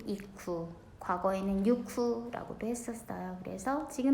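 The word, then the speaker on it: 行く: 읽을 땐 이쿠.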